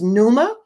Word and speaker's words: pneuma: from two greek words the first greek word is numa and it's spelled p-n-e-u-m-a and it means spirit